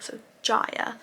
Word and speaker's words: Jaya: I wrote down that Jaya is pronounced Jaya, because originally I thought it was pronounced Jaya, but I wrote down it's J-A-Y-A, so Jaya.